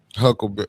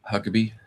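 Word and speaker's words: Huckabee: I've been watching that Tucker Carlson um uh uh and and and and and uh Huckleberry. Is that his name? Am I saying it right? Huckerby. Mike Hucklebee.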